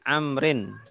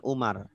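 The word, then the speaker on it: عمرو: Batak Oke Batak ibny Amrin eh benih Amrin Kenapa dawuk Amrin untuk menunjukkan itu bacanya Amr bukan Umar ya untuk menunjukkan itu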